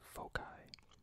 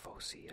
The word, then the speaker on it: foci: think this word is a few different ways to pronounce it so I'm just going to save foci some people say Fauci I think or Foe sign in a circle all